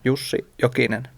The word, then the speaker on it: Jussi Jokinen: Jussi Jokinen, Oh, I like it.